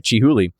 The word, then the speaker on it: Chihuly: All right, Chihuly.